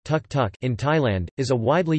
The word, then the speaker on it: tuk-tuk: The auto rickshaw, called tuk-tuk, Thai, tuk, pronounced tuk-tuk, in Thailand, is a widely used form of urban transport in Bangkok and other Thai cities.